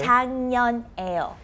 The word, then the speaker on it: 작년에요: We have the K 받침 and the N 받침. When they meet together, it's 장, like NG pronunciation. Okay. 작년에요.